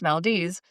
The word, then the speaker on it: Valdez: But I also mentioned the town of Valdez in Alaska, which is spelled like Valdez, Yeah. but it's pronounced Valdez.